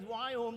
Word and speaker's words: Viome: So you start the name of the company that says Viome that you can't pronounce. But in case you're wondering, it's V as in Victor, I-O-M-E.